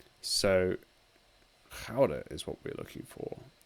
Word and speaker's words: Gouda: The Americans say Gouda cheese, but they are wrong. So Gouda is what we're looking for.